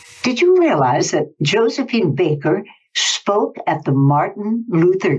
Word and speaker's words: Baker: Maybe that's because they pronounced her name Baker. I remember everyone in in Montreal called her Josephine Bar. They said it was the pronunciation she preferred.